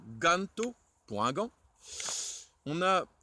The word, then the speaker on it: ganto: Le G, le G qui se dit Ge, comme dans Ganto, pour un gant.